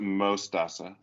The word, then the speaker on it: Mostaza: Mostaza, is that how you say it? Yeah, so you pronounce it Mostaza, Mostaza. which means mustard in Spanish.